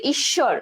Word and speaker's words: ঈশ্বর: তাহলে ঈশ্বর, দেখো ঈশ্বর, ঈশ্বরে কি বলছে ঈশ্বর, ঠিক আছে, ঈশ্বর, দেখো এখানে তালব্য স দুইটা কিন্তু দ্বিত্ব, অর্থাৎ তালব্য শয়ের দ্বিত্ব উচ্চারণ হয়েছে।